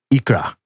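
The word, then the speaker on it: икра: And it's somehow pronounced something close to ikra, which is ikura, right?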